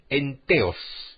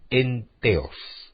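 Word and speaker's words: entheos: que la palabra entusiasmo deriva del vocablo griego en teos se escribe e n t h e o s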